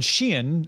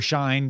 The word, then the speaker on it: Shein: You know, Temu and Shein, or Shine, depending on how you pronounce it.